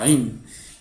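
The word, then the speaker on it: ʿayn: se llama a a ain y Cómo se pronuncia esta letra es un cierre de la garganta y una explosión de aire Es como si fueras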